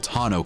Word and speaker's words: tonneau: Rivian has also included a tailgate that can extend the bed to 83.6-inches, and a built-in powered, lockable tonneau cover.